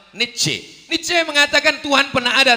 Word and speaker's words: Nietzsche: Iko namanya Nietzsche. Tulisannya payah mingeknya. Pokoknya jauh membacanya Nietzsche.